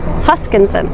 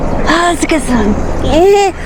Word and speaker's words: Huskisson: Huskisson. But I feel like I have to say it like that. Huskisson.